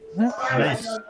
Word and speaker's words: anise: Anise. Anise. Well, anise, but you could say anus if you say it wrong.